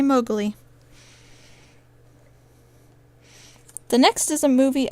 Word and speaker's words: Mowgli: And when I was little, I couldn't say Mowgli, so I said Mogi. And that's what my grandparents named their dog, was Mogi, because I couldn't say Mowgli.